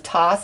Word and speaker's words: Thoth: emerald tablets of Thoth, and that's how I say his name. I know it's pronounced a lot of different ways, but that's how I say it. It just feels good to say it that way.